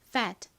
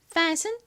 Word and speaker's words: fat: 정확한 발음은 F를 세게 발음해서 거의 쌍비읍처럼 발음해 주셔야 됩니다. 따라해 보세요. fat, fat. 좋습니다. fat은 뚱뚱한, 그리고 obese는 비만인이라는 뉘앙스에 가까운 단어입니다.